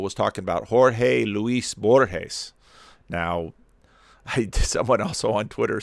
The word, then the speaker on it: Borges: would you say this because it's borjes in spanish a soft g that sounds more like an h borjess borgesian i guess